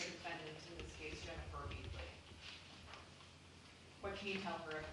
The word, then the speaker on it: Baechle: This morning, one of my investigators advised me that, according to her attorney, she pronounces it Baechle. Baechle? Baechle.